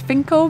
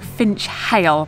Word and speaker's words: Finchale: very very close to the abbey finkel is pronounced as finkle but it definitely looks like finch hale but both all of the locals are calling